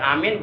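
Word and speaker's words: آمين: Ner neraka kemudian kalau kita mengucapkan Amin juga sama jangan ditasdidkan ya ini supaya nanti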